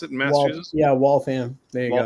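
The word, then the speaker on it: Waltham: friend Jonathan you'll appreciate from I think it's walam is that how you pronounce it in massachus yeah walam there you go W um move down here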